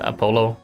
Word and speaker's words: Apollo: It's Apollo with emphasis on the second syllable.